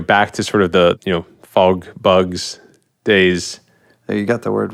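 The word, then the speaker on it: FogBugz: to sort of the, fog bugs days. You got the word right. You got the name right. That's good. Yeah. You're like fog bugs. Yeah, nailed it. Yeah. And it's spelled with a Z.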